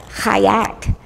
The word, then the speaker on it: Chait: Now my name, Chait, actually is pure, but it's not Yiddish, it's Hebrew. And the name is actually pronounced Chait.